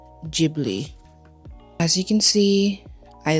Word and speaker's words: Ghibli: I know some people out there that say Gibli. Pretty sure the correct way to say it is Ghibli.